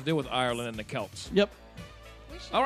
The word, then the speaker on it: Celts: No, C-E-L-T. it's a hard C.